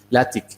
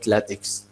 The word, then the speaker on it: LaTeX: latex I mean then the second part is not takes its tick so this is common